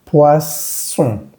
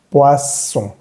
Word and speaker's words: poisson: No es on, sino es un solo sonido. Poisson. Por el momento trata simplemente de imitarlo. Poisson.